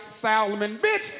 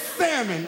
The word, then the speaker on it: salmon: get the eight ounce Salomon it's salmon okay you don't pronounce the L the L is there but you don't acknowledge it like like Nick Cannon's